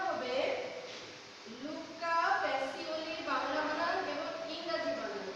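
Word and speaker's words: Luca Pacioli: লুকা প্যাসিওলি। বানানটা দেখো, বাংলা বানানটা হবে লুকা প্যাসিওলি, বাংলা বানান এবং ইংরেজি বানান দুইটাই তোমরা দেখবে।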